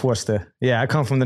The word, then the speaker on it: Worcester: Yeah, a lot of people butcher it because the way you spell it is W-O-R-C like cat, E-S-T-E-R. So a lot of people say Worcester. But it's Worcester.